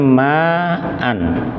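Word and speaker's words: ماءً: Nah, tulisannya ma'an. Di sini berhenti. Maka membacanya ma'a. Loh, meskipun tidak ada alifnya, tetap dibaca panjang karena yang menyebabkan panjang fathatainnya ini.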